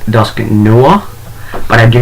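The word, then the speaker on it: Dusknoir: know and yes I know technically it's pronounced pronounced dusky Noah but I do not like the sound of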